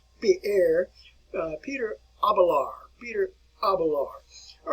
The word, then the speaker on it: Pierre: All right, you want to pronounce his name like Peter, or actually properly it would be Pierre, Peter Abelard.